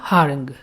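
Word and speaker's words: harangue: दिया है यहां पर ह रंग ठीक है इसको क्या पढ़ेंगे ह रंग ह रंग ठीक है हा अलग और रंग अलग इस प्रकार से आप इसको प्रोनाउंस करेंगे हा रंग तो ह रंग का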